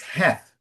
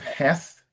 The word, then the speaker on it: Heth: A couple of suggestions, uh uh Ellington, it's it's in English it's Heth. So, yeah. Yes, so children of Heth.